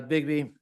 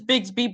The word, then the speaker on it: Bigsby: uh Miss big uh Bigby I'm pronouncing it yeah Bigby correct am I correct it is Bigsby but my my name